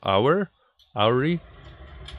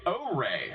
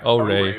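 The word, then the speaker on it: Oure: Auri? And that was a first look at O-Ray. O-Ray.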